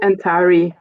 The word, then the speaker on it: Antari: Then we have Antari or Pirate. If I'm saying that correctly, like the audiobook made me question my pronunciation again. Antari? It's Antari, yes.